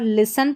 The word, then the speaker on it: listen: यहां पर लिसन पढ़ेंगे इसको। एल आई एस टी ई एन। ये देखिए एस टी ई एन वाला कॉम्बिनेशन है। तो यहां पर हमारा टी जो है वो साइलेंट है।